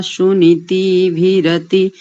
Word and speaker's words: सुनीतिभिरति: ओम अरिष्टः समर्तो विश्व एधते प्रजाभिर्जायते धर्मणस्परि यमादित्यासो न यथा सुनीतिभिरति विश्वानि दुरिता स्वस्तये। बहुत अच्छा उच्चारण। एक स्थान पर थोड़ी सी चूक हुई, सुनीति भीरति ऐसा नहीं, सुनीति भीरति ऐसा करेंगे।